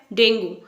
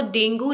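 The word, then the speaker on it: dengue: हमने यही सुना है डेंगू बट इसकी जो प्रोनंसिएशन है वो डेंगू नहीं है इसकी जो करेक्ट प्रोनंसिएशन है वो है डेंगी डेंगी यस डेंगी नॉट डेंगू next is university no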